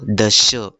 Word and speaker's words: दश: अब देखो यहाँ पर नॉर्मल र जैसा वाला श है, तो दश।